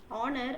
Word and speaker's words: honor: So here, our, honor, and honest. In these letters, or sorry, in these words, the letter H is silent. H is considered to be silent.